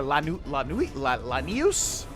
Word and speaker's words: Lanius: Obviously, we can just kill Legate Lanius, or Lanius, as I've heard them pronounce it.